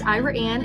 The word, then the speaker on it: Ira Anne: Um, yes, Ira Anne is a small but thriving little community. Um, the pronunciation is kind of unique. It was named after a married couple, Ira and an Yates.